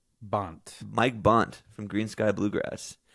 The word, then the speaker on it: Bont: Bont.